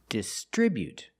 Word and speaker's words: distribute: We put the stress on the second syllable. Distribute.